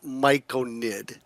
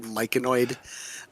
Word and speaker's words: Myconid: Most people say it as Myconid, which is fine. Um, but there's a lot of people that call it Myconoid. Um and I think that it's just people not not pronouncing the word correctly. Their eyes see the O in it and Could be, yeah.